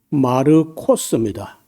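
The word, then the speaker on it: Μάρκος: 근데 그 마가 말고 원래이 마가라는 말은 우리가 발음할 때 마가라고 했는데 좀 그이 이름이 원래는요 헬라어로 말할 때는 여기 보시면요 마르코스입니다.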